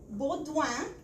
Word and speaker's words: Beaudoin: at our office at You've Got Made, Beaudoin, Executive Director at the George Marshall International Center in Leesburg. Welcome. Did I pronounce right your last name?